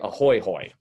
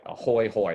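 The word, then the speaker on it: ahoy-hoy: that do it tonight freak people out say a Hoy hoy it's spelled a ho Y and then the second word is ho y a Hoy hoy it's amazing bring it back uh it never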